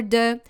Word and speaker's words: de: And for de, your mouth is a bit more open.